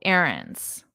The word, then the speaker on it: errands: And notice my pronunciation errands, errands. Very different from the spelling errands, errands.